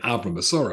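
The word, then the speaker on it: Avram: today as well but if you're a Ben of Rome or a bass of Rome or a bass or Ben Abram which would be the proper way to say this then you should be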